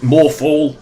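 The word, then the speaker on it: Morthal: awful Ellie even Brian more fall rhymes with awful it's just terrible again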